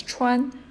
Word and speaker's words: 川: You don't really have to know those characters right now by heart, but this is pronounced as 川, and it means the river.